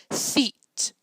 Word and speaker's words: Theet: Theet rhymes with feet.